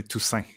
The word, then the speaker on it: Toussaint: Well, if you're pronouncing in French, you'd say Toussaint. Toussaint.